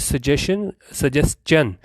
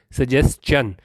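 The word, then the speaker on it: suggestion: और क्या चीज़ नहीं सुनी, टू हिज सजेशन। ठीक है, ये मैं भी गलती कर जाता हूँ, ये सजेशन लोग बहुत ज़्यादा बोलते हैं, लेकिन ये जो है ना इसकी सही प्रोनाउंसिएशन होती है सजेस्चन।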